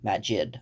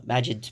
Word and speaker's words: Magid: believe it's magic you I think it's pronounced mag magic but with a d Magid I think so yeah